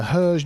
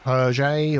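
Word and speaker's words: Hergé: The Herge Museum, Herge or Herge, I think it's pronounced, is the writer of Tintin.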